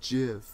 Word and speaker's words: GIF: Is it GIF or is it JIF? According to the guy who made that format, he said you could pronounce it either way.